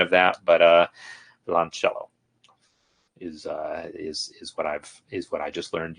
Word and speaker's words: violoncello: But via, the via is sort of one syllable. The I and the O kind of are a diphthong a little bit. Violoncello with the accent on ch. Violoncello.